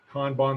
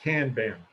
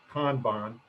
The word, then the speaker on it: kanban: Kanban, that's the correct Japanese pronunciation. I studied Japanese in the Coast Guard, so I could talk to Japanese fishermen in the Pacific. Not Kanban, Kanban.